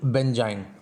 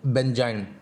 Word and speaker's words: benzyne: So alkyne, it's a structure like alkyne, so here we will pronounce it इज़ बेंजाइन। Okay, so इट इज़ बेंजाइन।